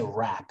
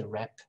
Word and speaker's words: rap: problematic sounds sometimes um you say rap okay you don't say rep i like rap look